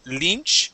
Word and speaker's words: Lynch: up is Lynch okay this Y is going to be a short I sound so instead of Lynch Li Lynch like David Lynch exactly all right let's